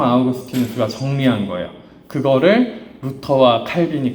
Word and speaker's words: 아우구스티누스: 어 틴도 같이 살았거든요 어거스틴 아우구스티누스 부르죠 그죠 지금은 요즘에는 다 원 원어 발음대로 가져와요 어거스틴은 다른 어떻게 해서 그런 발음이 생겼는지 모르겠는데 아우구스틴 성 아우구스티누스 그죠 그래서 우리는 이렇게 알고